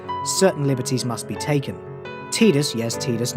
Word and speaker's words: Tidus: Final Fantasy X, Tidus Disappears. Yes, it's pronounced Tidus, not Tidus, look it up. Okay, so usually I'd only do